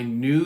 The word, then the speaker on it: knew: I knew that, and this is new. They are both pronounced the same.